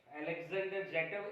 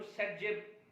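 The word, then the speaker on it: Zaitsev: अब आप देखो अलेक्जेंडर जेटव एक साइंटिस्ट था, उसने ये डिसाइड करने दिया है कि मेजर या माइनर प्रोडक्ट क्या होगा, हालांकि उसको सेटजेब प्रोनाउंस करते हैं, ठीक है।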